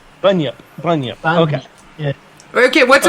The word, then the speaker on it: bunyip: So did I pronounce it right, Robert? Bunyip? Bunyip.